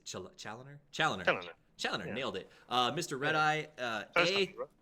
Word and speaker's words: Chaloner: Chaloner, Yeah.